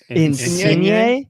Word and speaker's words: Insigne: So Insigne. Insigne.